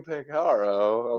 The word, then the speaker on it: Peciaro: to make it the hard C, because, you know, CI is cha. I was sweating. My palms were sweating. Yeah. I said, today we have Nico Peciaro, of course, who I know how to pronounce his name.